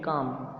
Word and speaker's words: calm: ऐसे ही काम, काम में देखिए CALM होता है लेकिन इसको बोलते हैं काम, तो यहाँ पे L साइलेंट है।